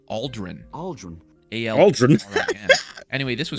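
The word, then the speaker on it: Ald'ruhn: north we come across Al run which I guess I'm mispronouncing because they call it Aldren Aldren ald anyway this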